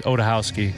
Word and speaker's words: Odachowski: Our original last name was Odachowski, which is it's Polish and pronounced the proper way. It's Odachowski. So you can see how you might get O'Day from Odachowski, and they changed it.